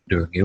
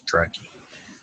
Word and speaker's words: Draghi: Durgi wins on, I keep saying Durgi, it's Draghi.